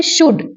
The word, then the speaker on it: should: जैसे शुड, SHOULD शुल्ड नहीं होता, एल साइलेंट होता है।